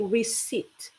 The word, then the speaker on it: receipt: And remember this word receipt is you don't say it's like pretty much you just you you forget about there are silent letters over there you forget about the um the P and the P the IT P there and then just say receipt receipt.